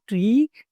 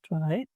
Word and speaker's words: trie: हमारा जो ट्री या ट्राई बोलते हैं इसे pronounce S pronounced S ट्राई prefix ट्री भी बोलते हैं इसे हम।